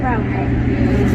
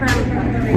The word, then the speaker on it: Ramapo: How do you say it? The city's name. The town of Ramapo. I'm sorry? This is the town of Ramapo. Ramapo? That's the town, yeah. Ramapo, though, is how you say it? Yeah. Okay.